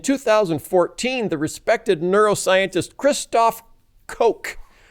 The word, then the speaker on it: Koch: In 2014, the respected neuroscientist Christoph Koch, as in Koch brothers, spelled the same way, argued in Scientific American, and listen to this logic because I think it is unassailable.